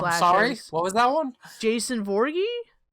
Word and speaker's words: Voorhees: that one jason voorhees that that's not the name it's not borgie can you spell that for me no what you're saying no i can't because it's voorhees i've been saying morgan for years there's there's no g i i don't know how